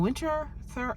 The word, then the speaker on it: Winterthur: Uh, Winter Thur. It looks like winter, but when I listened to the phone message, they said it winter winter. Um, so that's how it's pronounced.